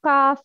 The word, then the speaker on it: ق: Qaf is heavy, but kaf is light.